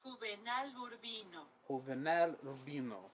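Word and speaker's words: Juvenal Urbino: should have prepped because the J makes the H sound I'm going to look up the pronunciation did one of my lights just change huel Rino yeah okay so it's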